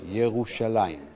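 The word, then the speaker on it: ירושלים: write it today in the same way we pronounce it today yerushalaim and it's the first time we have an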